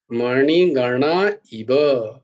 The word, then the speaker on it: মণিগণা: চোখের মণি, ওই মণি কিন্তু উচ্চারণটা মণি, মণি মূর্ধন্য, মণি গণা, গণা মূর্ধন্য, আবার মণি গণা ইব, মণি গণা ইব, এই মণি গণা নয় কিন্তু, মণি গণা ইব, এরকম উচ্চারণটা হবে।